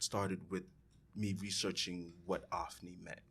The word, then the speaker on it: Ofnie: It's pronounced Ofnie. It's right. O-F, like of.